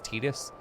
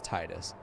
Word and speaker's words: Tidus: it is wrong like apparently his name is tidus that's wrong it's stupid his name is titus titus sounds better titus makes a lot more